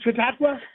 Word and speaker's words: Chautauqua: And am I getting better at pronouncing Chautauqua?